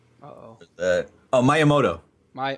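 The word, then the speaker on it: Miyamoto: it at where's his name oh that oh myamoto my myamoto that's right okay I'm sorry so myamoto says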